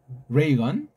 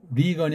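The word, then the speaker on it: Reagan: 어 레이건 레이건 리건이 아니고 레이건이라고 이제 본인이 불러 달라고 했잖아.이 레이건만 해 하더라도 한문 이름이 있어요.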